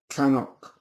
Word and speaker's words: Knockdhu: it's not gonna do if that's pronounced properly it's known as canok let us do people